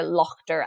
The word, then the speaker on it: laughter: For example, words with a silent GH like daughter, laughter, and slaughter would have been pronounced more like dochter, lochter, and slochter.